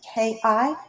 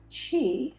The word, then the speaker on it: ki: not saying this right in japanese it's ki and in chinese it's chi and for those of you